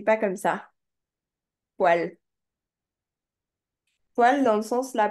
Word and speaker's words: poêle: Ensuite, ça s'écrit pas comme ça. Poêle.